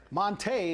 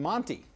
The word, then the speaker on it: Montee: I know what is this all about well Monta is the correct pronunciation of his name strangely enough and we're